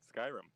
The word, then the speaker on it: Skyrim: Now then, how do you say Skyrim? Skyrim. Okay, see, that's exactly what I said, Scrim.